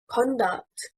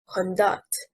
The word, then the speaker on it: conduct: Conduct, stressing on the first syllable, means behavior, and it is a noun. Conduct, stressing on the second syllable, means to manage and is a verb.